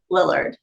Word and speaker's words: Lillard: I actually did attend a premiere for that movie and Matthew Li Lillard, is that that's how you say his name, right?